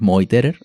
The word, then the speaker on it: Meuterer: decimos Meuterer, pero en alemán es Meuterer, ¿no? La pronunciación.